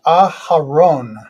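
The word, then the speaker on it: אהרן: In Hebrew, that's pronounced Aharon.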